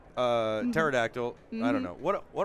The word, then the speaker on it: pterodactyl: a paradictal right uh pterodactyl i don't know what what am i talking about i'm losing my mind it's why the p is silent is what it is this is a pterodactyl i thought this was